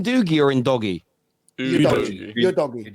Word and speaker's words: Udogie: All the Serie A commentators they pronounce him you doggy.